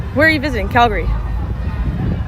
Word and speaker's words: Calgary: are you visiting Calgary so not Calgary Calgary but not it's certainly not Calgary I had a um I had a friend from there and I asked how do you say it they're like well I say it like Calgary so that's essentially why